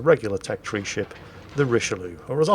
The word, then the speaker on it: Richelieu: this is a regular tech tree ship the richelieu or as i like to call it the richie lulu because mispronouncing the names of things is one guaranteed